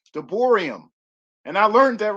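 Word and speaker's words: דברים: and i'm learning in hebrew you pronounce that deuteronomy de boerium and i learned that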